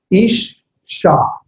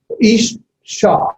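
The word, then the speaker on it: אִשָּׁה: It's pronounced, let me leave the vav off, just ish sha. It's double. Ish sha.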